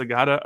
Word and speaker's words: Agada: pr team be like hey how do we pronounce this is it agada or agada oh it's Agata okay great it's just you know what are